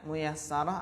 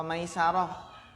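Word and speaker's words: مُيَسَّرَة: Ini bacanya muyassarah atau maisarah? Apa ini? Mas Giri? Muyassarah atau maisarah? Muyassarah. Bagus. Muyassarah.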